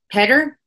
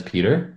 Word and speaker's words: Peder: the old album it's petter or p i i i usually just talk about it as peter okay okay um just keeping it simple um but how you would pronounce it in norwegian oh okay and interesting